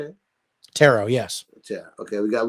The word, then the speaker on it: Tarot: Tarot, yes.